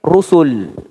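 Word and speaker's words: رسل: Cara bacanya beda. Kalau ro-nya fathah, rasul panjang bacanya. Tapi kalau ro-nya dhammah itu pendek, rusul.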